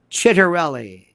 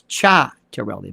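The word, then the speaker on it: Ciattarelli: It's we have this thing in New Jersey with Mikey Sherrill and Chitterelli. His name is mispronounced. It's Cha-Terelli.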